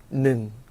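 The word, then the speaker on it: หนึ่ง: 숫자 1은요 짧게 능 하고 일성으로 발음하시면 되고요.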